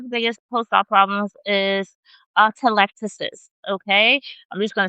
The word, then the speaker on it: atelectasis: So there's something, one of the biggest post-op problems is atelectasis, okay? I'm just gonna spell it for you if you confused about how I'm pronouncing atelectasis.